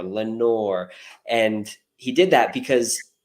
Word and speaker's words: Lenore: for the Raven because it had a long o sound and in that poem you notice there's a lot of long long o sound never more Lenore and he did that